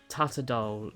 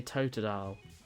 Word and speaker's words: Totodile: Tatadole. No, I don't say that. I say Totodile. Totodile. I pronounce it correctly. Totodile. What? No, it's not. Totodile. Totodile. That's how you say it.